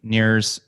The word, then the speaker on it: Nir: could go to sure it's near and far calm near spell like my first name and I are or